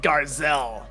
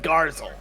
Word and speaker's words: Garzell: standing there looking stupid it's pronounced garzell you you said gazelle oh oh yeah garzell my